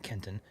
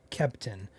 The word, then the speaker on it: Kempton: This is, or should I say Kempton, not Kenton, Kempton.